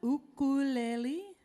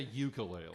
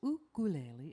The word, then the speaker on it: ukulele: of that instrument please this is an ukulele not a ukulele correct there's not a you could sing the correct pronunciation is ukulele it is Hawaiian and I do believe